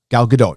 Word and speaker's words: Gal Gadot: i like gal gadot gal gadot gal gadot that's how you say it we figured uh jeremy